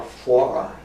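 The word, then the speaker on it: Fauré: was a Frenchman that spelled like foray, but they're calling Francois Foire. But he's the same spelling as the composer, Gabriel.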